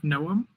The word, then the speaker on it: Noam: Now we have Noam. Noam, welcome. Thank you, and good pronunciation on my name.